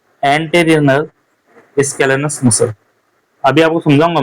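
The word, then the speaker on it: scalenus: Anterior स्केलेनस muscles होती है, सैलकेनस नहीं स्केलेनस, सॉरी स्पेलिंग में गड़बड़ी हो गई थी।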